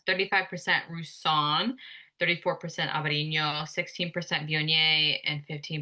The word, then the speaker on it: Viognier: I have a Viognier. Viognier. The lady told me how to say this. She said, you go V on yay I like that.